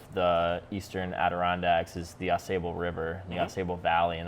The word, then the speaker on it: Ausable: I mean, we don't really pronounce it correctly. It's a French word. Ausable Chasm is what we get a lot around here. It's we correct a lot of people. Ausable Chasm. That's how it's pronounced around here.